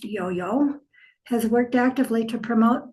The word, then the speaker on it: IOHIO: Founded in 2000, the Instit Wajaka or the Institute of Waka Historic Organs uh by its acronym Yoyo, pronounced Yoyo has worked actively to